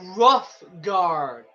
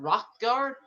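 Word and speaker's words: Hrothgar: Yes, High Rough Guard. Is that really how it's spelled? Rough, not Rock Guard. It's Rough Guard, not Rock Guard.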